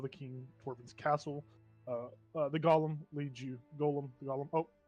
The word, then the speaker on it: Golem: It's Golem.